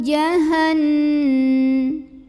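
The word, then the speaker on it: جَهَنَّم: Wa ma'wahu jahannam. Kemudian di sini ada hukum gunnah musyaddadah karena ada nun yang bertasydid. Maka cara bacanya didengungkan. Jadi bunyi n-nya tahan.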